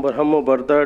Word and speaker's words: Barhambarda: बरमबरगा, sorry, सही pronunciation है बरमबरगा।